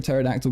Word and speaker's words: pterodactyl: can't you hear a pterodactyl going to the bathroom because the p is silent being sing I'm very